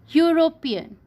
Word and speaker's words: European: we write a university European so here he is a bubble bird but doesn't have a vowel sound so we will write